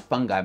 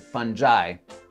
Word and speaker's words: fungi: Means that certain psychedelic plants and fungi, I've been pronouncing it fungi my whole life, but I recently heard Paul Stamets, the world's foremost expert and mushroom guru, pronounce it fungi, so that's how I'm pronouncing it going forward.